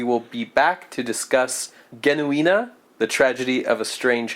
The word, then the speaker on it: Genuine: be watching it okay should we be calling it genuine or the J genuina genuina yeah that would be the uh the German pronunciation we should probably stick to that it's probably the name